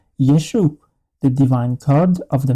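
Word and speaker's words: ישו: This is the third episode called Yeshu the divine code of the Messiah.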